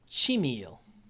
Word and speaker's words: Chimil: It is Chimil. Chimil. Okay. By the way, we're getting these pronunciations from on Twitter, Logan A.